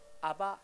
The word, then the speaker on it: 아바: 아바, 아버지. 요즘에 개역 성경에는 뭐라면 아빠라고 나와요. 아빠, 아버지. 아바, 아버지. 이게 이 아바란 발음이 원래 아빠란 발음이에요.